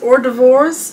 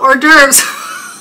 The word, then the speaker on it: hors d'oeuvres: that word adam oh hors d'oeuvres i'm sure everybody's laughing right now that's okay laughter is good and finger foods hors d'oeuvres not or divorce i should just